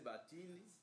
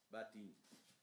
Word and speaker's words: Batende: Les Batende, il faut le prononcer Batini, parce que c'était le blanc, les Anglais qui régnaient à Bolobo. Les E, c'est I, il faut plus prononcer Batini.